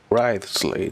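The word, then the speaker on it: Wriothesley: personal dealings with the administrator of the Fortress ridesley he's a very shrewd fellow rightly that's how you pronounce it wisely yeah weird about him too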